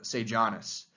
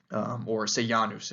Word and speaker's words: Sejanus: of the empire to a man named Sejanus, or Sejanus, if you want to get into the original traditional pronunciation.